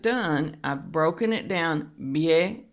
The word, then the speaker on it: bien: Bien, that's a diphthong, so we won't have a break in there. It's not two syllables, it's just one.